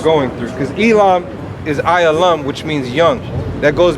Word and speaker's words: Elam: Right here. Ayalam. That's how you say it. That's Elam. These are the 18 nations.